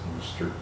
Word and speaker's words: Worcestershire: Worcestershire sauce, or as they say in England, Worcester sauce, because if you have 15,000 syllables, it's gotta be pronounced Worcester.